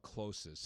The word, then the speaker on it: CloSYS: So it's called Closis, and you spelled Closis. it. Yeah, spell it one more time for us.